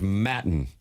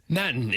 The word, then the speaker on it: Maton: Phil, we have looked up the pronunciation, and we have come to the conclusion that is Maton. Maton, M-A-T-O-N.